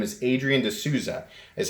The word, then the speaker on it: D'Souza: Now, Damned Designs, the gentleman who is running that company, his name is Adrian D'Souza, is how you pronounce it.